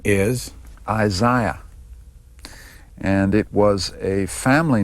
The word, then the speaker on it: Isaiah: as Shia Berlin, but the proper way to do it is Isaiah. A lot of Americans say Isaiah.